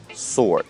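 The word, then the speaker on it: sword: что-то бросай свой меч и так слове меч мы не читаем w сорт дорогие друзья я надеюсь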